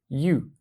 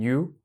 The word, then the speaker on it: yü: con el game pasemos a el aspecto energético you y la forma en que lo vamos a pronunciar es yoo y um y um no tienen que